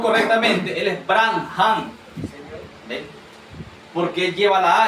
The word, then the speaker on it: Branham: Señor, la otra le decía, si nosotros decimos Branan, no está bien pronunciado. Branan. Si decimos Branan, no estamos pronunciando la H. Pero si lo pronunciamos correctamente, él es Bran Han porque él lleva la H de Elohim.